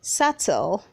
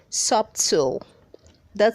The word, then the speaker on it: subtle: don't say success read 411 says subtle say subtle don't say sub that see is silence red 412 says sacred say